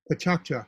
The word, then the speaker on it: PechaKucha: It's spelled like Pechakucha, Pachakcha presentations.